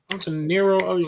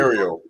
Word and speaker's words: Ontario: Antonero in California. That's how you say it? I just want to ask Zen, Ontario.